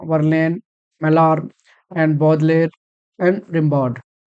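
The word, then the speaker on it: Baudelaire: हम इनको बॉडलेयर भी पढ़ सकते हैं, लेकिन लेयर नहीं, एक्चुअली ले, बॉडले हम, ठीक है, स्पेलिंग याद रखेंगे, प्रोनाउंसिएशन डजंट मैटर, क्योंकि हम लोग कितना भी करें कुछ ना कुछ वर्ड्स डिफरेंट रहते ही हैं, तो बॉडले बोलेंगे हम इनको।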